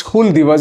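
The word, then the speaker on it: Hul Diwas: HUL, Hull, that is Hul Divas is the proper pronunciation of tribals.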